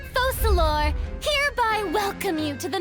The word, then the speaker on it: Focalors: I, Focalors, hereby welcome you to the nation of Hydro and acknowledge the value and significance of your trip.